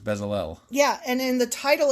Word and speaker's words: Bezalel: Then Moses told the people of Israel, the Lord has specifically chosen Bezalel, son of Uri. Remember, because sometimes sometimes it's Bezaleel and sometimes it's Bezalel.